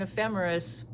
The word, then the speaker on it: ephemeris: The word is spelled e p h e m e r i s and it's pronounced ephe ephemeris.